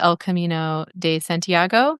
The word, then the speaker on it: El Camino de Santiago: things, but one of them is hike the El Camino de Santiago.